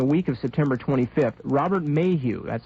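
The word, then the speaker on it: Maheu: Days later, during the week of September 25th, Robert Mayhew, that's spelled M-A-H-E-U, that's a name that crops up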